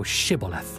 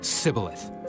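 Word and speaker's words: Shibboleth: If he said nay, then said they unto him, say now Shibth. And he said, Cibilith, for he could not frame to pronounce it right.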